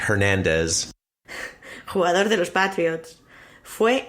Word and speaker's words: Hernandez: Por ejemplo, Erin Hernández, que aquí lo pronuncian Erin Hernández. No, that's with an H, Hernandez.